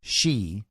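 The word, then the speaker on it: Xi: One of its 4 core partners, Pentagon-funded Graphica, explained in a report about Fauci, and it's spelled Fauci, X-I, as in she, the president of China,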